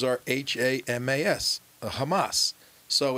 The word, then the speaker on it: Hamas: that the letters are h-a-m-a-s the hamas so it's the it's always a definite article the way it should be pronounced the hamas because it's the islamic